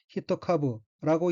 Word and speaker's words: 一株: 둘째 줄 오른쪽에 한자는 한국어로 일주이고 각기 한일자와 그루주자로 되어 있으며 일본어로는 히토카브라고 읽고 히토카브는 한 포기, 한 그루, 주식 한 주의 뜻이고 한편 난초의 포기는 촉이라고 하므로 여기서는 한 촉으로 해석합니다.